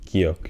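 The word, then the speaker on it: 기역: will make the nice giok shape. Giok has 2 ways to be pronounced. First one being g, clean g, and the second one being k, with a little more aspiratory sound added to it.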